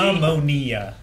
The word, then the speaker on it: ammonia: What is the difference when pronouncing the smelling salt versus what she has? The smelling salt is made out of... Ammonia.